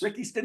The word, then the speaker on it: Ricky Stanicky: He's just basically saying how you pronounce it is you have to rhyme the two words. Ricky Stanicky.